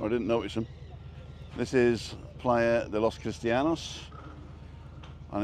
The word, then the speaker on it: playa: Cristianos, and it's called Playa, not Player, for some reason. Because if the A was spelled A, then it would be Play A, wouldn't it? Right. And it's playa, because the letter A is pronounced ah.